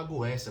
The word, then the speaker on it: Goetia: O termo Goetia, Goetia, né, ou Goécia, o correto seria falar Goécia, porque a terminação T-I-A no latim fica cia, como se fosse a pronúncia de um C, ou cia, T e C junto.